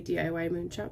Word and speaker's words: DIYmoonshop: This is a round diamond painting piece by the company DIYmoonshop. I like to say DIYmoonshop, but I believe that they do pronounce it DIYmoonshop.